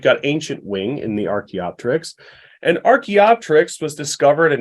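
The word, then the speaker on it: archaeopteryx: are familiar with the the prefix arche like archeology so arkey refers to studying ancient things so Archie is is ancient and the Terex with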